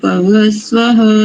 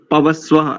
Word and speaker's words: पवस्व: और पवस्वः, यहाँ पर विसर्ग नहीं, आपने पवस्वः ऐसा बोला, पवस्व केवल।